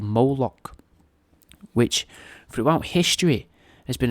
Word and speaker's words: Moloch: In some writings, Moloch's apparently represented as well by the spelling of Mluk, pronounced Moloch, spelt M-L-K, right, so that's Mlik, or, you know, which is Moloch, it's a cool name, innit,